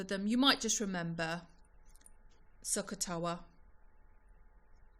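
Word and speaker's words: SOHCAHTOA: you might just remember sakatowa it said just how it's spelt or one of the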